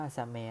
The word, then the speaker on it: แสม: แม่ เพราะ เกาะ ลำพู ปู แสม ไม่ ใช่ ภู แสน นะ ครับ เรา เนี่ย ถ่าย ว่า แสม นะ ครับ ไม่ ใช่ ปู แสน ฟ้า ใส ไชโย เสาะ